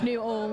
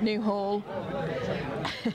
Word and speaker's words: Newhall: It's Newhall, not Newhall. Oh, sorry. Yes, you don't pronounce the H.